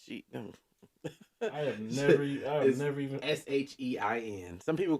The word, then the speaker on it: SHEIN: I have never even SHEIN. Some people pronounce it Sheen, but they came out on Twitter and said it's pronounced Shein.